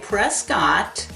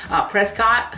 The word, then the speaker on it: Prescott: Now, if you look at Prescott, however you want to say it, don't get insulted, I said it wrong. Prescott scores at 187, so Prescott below national average, and that's pretty good.